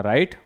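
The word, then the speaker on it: write: ठीक है, अगला है हमारा राइट। डब्ल्यू यहां पर क्या होगा? साइलेंट।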